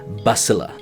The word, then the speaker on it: Basilius: found out after all of this time it's pronounced Basila.